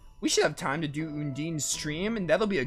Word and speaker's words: Undine: in moral probably when Dean's an interesting name undyne is another way to pronounce it I mean this is if you